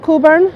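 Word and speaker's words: Cockburn: middle of the word Coburn uh it is pronounced Coburn if you pronounced the CK and he was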